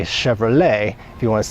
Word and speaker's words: Chevrolet: they don't say Chevrolet I don't think they know to put that French twist on the suffix of that word they pronounce it Chevrolet so if you are